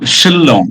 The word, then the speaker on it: Shillong: Um, Shillong. Yeah, your pronunciation a bit confused.